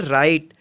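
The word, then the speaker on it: write: डब्लू अनुचित रहते हैं डब्लू का उच्चारण नहीं होता है तो आइए हम एग्जांपल मैं इसको क्लियर करते हैं जैसे कि नहर wr3d करेंगे और राइट राइट मींस लिखना इसको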